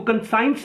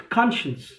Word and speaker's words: conscience: इसको कंसाइंस नहीं पढ़ते हैं, वी प्रोनाउंस इट कॉन्शियंस.